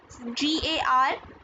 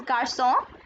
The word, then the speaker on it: garçon: If this was written this way, Garcon without cedille, this would be pronounced as garcon. So cedille produces a sound s. So this is garçon and français.